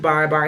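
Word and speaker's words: barre: And if you're not familiar with bar is spelled B-A-R-R-E.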